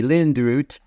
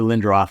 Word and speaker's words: Lindroth: If you're Swedish, which it is, it would be Lindroth. But no, Oh, that's fine. we've anglicized it to Lindroth.